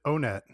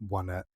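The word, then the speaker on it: Onett: So you pronounce it One Net. That's interesting. I always pronounced it O-Net. Well, although, of course, the joke is that the towns are named 1, 2, 3, and they all have the number in their name.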